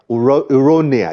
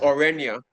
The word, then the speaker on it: Orenia: was king of uh ironia is that the name of the of the other world pronounced orenia or thank you very much